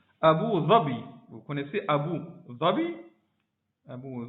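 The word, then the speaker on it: Abu Dhabi: Abu Zabi.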